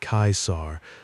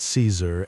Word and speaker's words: Caesar: He had renamed himself Caesar, pronounced the Latin way Kaisar, though the soldiers who followed him pronounced it Caesar, and he did not correct them.